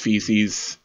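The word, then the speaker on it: faeces: I know it's pronounced feces not just not many people know that AE equals e sound so his parents sent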